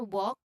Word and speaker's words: walk: Walk. So there's a silent L in talk as well as in walk.